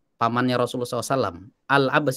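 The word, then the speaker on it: العباس: Al-Abbas itu ada alnya. Al-Abbas ibnu Abdil Muttalib, bukan Abbas ibnu Abdil Muttalib, tapi ada alnya.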